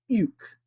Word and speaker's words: οἰκ: Now, this was a little bit challenging to pronounce, but it's Omicron Iota Kappa. Remember, when you get that Omicron Iota in Koine Greek, it's U, not oi as in Eraspian, but U.